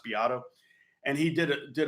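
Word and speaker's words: Beato: and he is it spelled Beto but it's pronounced be Otto and he did it did a video about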